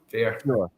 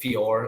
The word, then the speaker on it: Fior: Rory from Fear yeah fear how do you say it I say it fear a lot of our members say Fior as well but Fior fear Fitness in in San